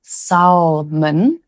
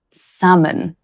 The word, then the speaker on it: salmon: The L is silent in this one, so it's not pronounced salmon, it's pronounced salmon.